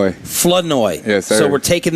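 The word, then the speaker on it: Flournoy: Flenoi. Flenoi. Yes, sir. So, we're taking the R out of the middle. No. Florenoi. It's French, so you guys roll your tongue a little bit.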